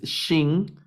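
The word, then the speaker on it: שׁ: suena como s y la segunda que es Shin suena como sh estas estos sonidos sh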